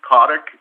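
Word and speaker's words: Kotyk: for the record please my name is cottock it's spelled k-o-t-y-k thank you and do you affirm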